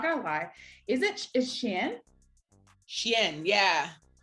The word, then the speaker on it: Channa: lie is it is chan yeah it's kind of it sounds like dog the way you say dog in french yeah oh you know